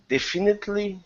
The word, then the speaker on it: definitely: The stress is at the very beginning of the word.